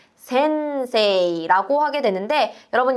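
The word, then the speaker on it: 先生: 한자로는 이렇게 생겼고 일본어 발음으로는 센세이라고 하게 되는데 여러분, 이때 세 뒤에 이라는 발음은 센세이, 장음으로 발음하는 우리 배웠던 장음의 규칙 기억해 주시고요.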